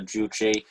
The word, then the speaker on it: Juche: of socialism uh i've i thought it's it's pronounced juje but maybe this is just uh the way that english i'm you're a better expert than i am on this uh i i think i i'm pretty sure it's pronounced uh juche anyway these african com